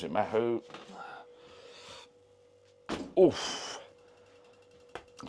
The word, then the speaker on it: Mahou: Mahou, I think you pronounce it Mahou.